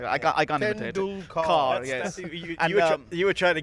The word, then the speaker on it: Tendulkar: Do you remember how he pronounced Sachin Tendulkar? Suchin, wasn't it? Sushin Tendul, something like that. I can't imitate it. Tendulkar.